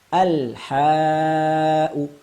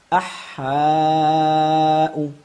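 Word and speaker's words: الحاء: Sehingga sekali lagi kita praktekkan al-ha'u. Salah bila kita membacanya dengan idgham syamsiyah demikian. Ahha'u. Kalau kita kembalikan ke macam-macam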